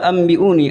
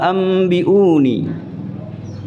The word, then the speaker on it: أنبئوني: Ini ada faqala ambiuni, ada mim kecil. Itu nun sukunya berubah dibaca menjadi mim. Faqala bukan faqala an, tapi faqala ambiuni. Hamzahnya juga panjang. Sama dengan ni. Faqala ambiuni.